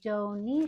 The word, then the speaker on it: Dohne: It is called the do shaw, although it's spelled D O H N E.